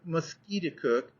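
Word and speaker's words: Musketaquid: He pronounced it Musquiticook, emphasizing the second syllable with a peculiar guttural sound, and said that it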